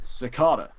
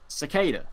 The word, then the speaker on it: Cicada: series of the season 5 Big Bad is secada which it's actually pronounced cicada which I didn't know yeah I sparked say